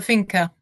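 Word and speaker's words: Finca: Um now I saw you have one called Now I don't know is the pronunciation the finker? The fina.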